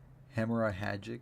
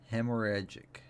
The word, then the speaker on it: hemorrhagic: I think it's hemorrhagic, because it's hemorrhage with an IC, and then the pronunciation key says hemorrhagic, so it's hemorrhagic.